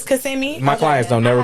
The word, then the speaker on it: Kissimmee: Oh, I thought that was kissing me. I've been saying it wrong all this time. I don't know how you say it. So my clients don't never just. It's Kissimmee.